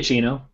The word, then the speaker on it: Giacchino: Giacchino.